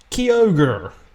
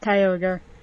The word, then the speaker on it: Kyogre: another thing as well is Kyogre that's that's not how you say it it's Kyogre I mean I think